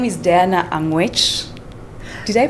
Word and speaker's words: Diana Angwech: talk about the girl child her name is Diana anguish do they pronounce that right you got it I'm good